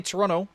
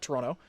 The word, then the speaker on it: Toronto: So apparently intervocalic flapping happens mostly in North America with certain words, and essentially it's the consonants T and D sometimes get muddled or get replaced with one another. So in, for instance, Toronto, you have the T getting muddled out, and it's still there,